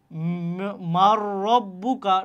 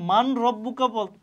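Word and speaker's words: مَن رَّبُّكَ: আছে আমরা মিলায়ে পড়তেছি এই দেখো নুন কিন্তু এখানে উচ্চারণ করতে উচ্চারণ করতেছি না আমরা কি করতেছি মার রব্বুকা ঠিক আছে মার রব্বুকা এখানে কিন্তু আমরা মান রব্বুকা পড়তেছি না আমরা কি পড়তেছি মিম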